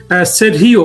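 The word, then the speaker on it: Sergio: থেকে বলা হচ্ছে যে সেরহিও এই উচ্চারণটা অবশ বাংলাদেশের কোন মানুষ করতে পারে না। এটা একটা স্প্যানিশ উচ্চারণ। আমি জানিনা ওরা আমেরিকাতে সার্জি বলতে পারে। সার্জিও বাট এই নামটা হলো আপনার ল্যাটিন। এই লোক নিশ্চিতভাবে ল্যাটিন পিতামাতার সন্তান। ল্যাটিন মানে স্প্যানিশ আর কি ধরেন মেক্সিকান বা অন্য কোন কিউবান টিউবান হতে পারে। ওই ভাষায় এই উচ্চারণটা সেরিয়।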